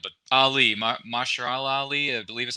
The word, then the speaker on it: Mahershala: So I'm curious, I can't pronounce his first name correctly, but Ali, Mahershala Ali, I believe is how you pronounce his name. Mahershala Ali.